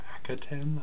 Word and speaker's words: Akhaten: week's Doctor Who episode, The Rings of Accaten, I believe is pronounced, if I recall correctly.